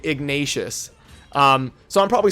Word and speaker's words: Ignatius: learned in my video I've always called him igneous but people love to correct me on my pronunciations which is great and now I know that it is actually igneous or wow I'm so used to saying it that way it's actually ignatius so I'm probably saying